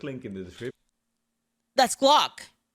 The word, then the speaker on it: Glock: That's Glock. Glock rhymes with I figured it out.